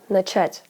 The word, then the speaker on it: начать: Take for instance the verb to begin, начать. The second syllable is stressed in the infinitive, but in the past tense, on начал, it switches to the first syllable.